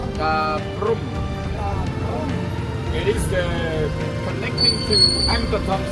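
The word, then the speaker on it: Ta Prohm: Everybody pronounce it Da Prum.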